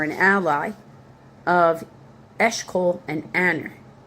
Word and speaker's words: Aner: A brother, D, or a relative or an ally of Eshkol and Aner. E s h c o l, Eshkol, and Aner, a n e r, all of who were allied with it.